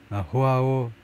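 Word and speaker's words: João: 지금 토트넘 팀이 누구랑 협상 중인데 with 바이런 뮌헨 미드필더 호아오 팔힌하하고 overall loan deal 임대 합의를 둘러싸고 지금 호아오라고 읽어야 되나요? 라틴 계통 사람들은 J를 H라고 발음하죠. 호아오하고 지금 협상을 하고 있다.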